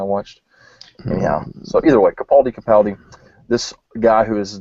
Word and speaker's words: Capaldi: recently learned is actually how his name is pronounced seriously his name is capaldi according to that one guy from the nerdist